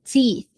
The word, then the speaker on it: teeth: to brush the teeth. Então esse cuidado com a pronúncia desse dentes aí. Teeth. Eu vou colocar o th no final.